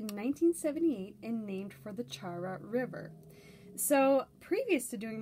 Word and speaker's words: Chara: And he speaks very, very quickly, but from what I can gather, he's pronouncing it Chara.